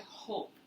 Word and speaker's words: hope: The vowel sound is usually the name of the first vowel. So this silent E turns this word into hope.